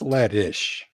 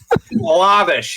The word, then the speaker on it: Lish: you have a ladder but Ladish uh Lish you got to say it like that it's Lish I was going to give